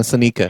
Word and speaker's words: Seneca: No, Seneca. So it's pronounced Seneca. Seneca.